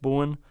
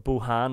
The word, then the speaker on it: Bohan: Mick Bowen, or Bohan as Willie would say, but Willie pronounces a lot of things wrong, mostly TG4 as he would say.